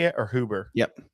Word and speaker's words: Huber: huber is that how you say it or hoover yep hubert huber that's what i thought huber's old rick